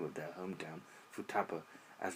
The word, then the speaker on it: Futaba: name of their hometown, Futaba, as the number 2 can be pronounced Futa in Japanese, and 8 as Hachi, which is considered to possess a phonetic similar to Ba.